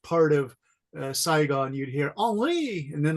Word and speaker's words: Henri: I said, Henry, how do you say your name in French? And you know the answer, right? Henry. No, in French it's Henri.